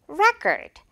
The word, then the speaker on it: record: she broke the world record 이럴 때 세계 기록인데 world record 이렇게 갑자기 기록하다 동사 발음을 하면 안 된다는 거 그죠 명사로 Record 오케이 오늘의 포인트 여러분